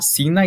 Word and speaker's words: Sina: menorzinha assim de dentro, que é a Sina, e também a pronúncia pode ser China.